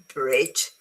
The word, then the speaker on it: bridge: Sorry, bridge. Bridge is as in gem, colleague as in game.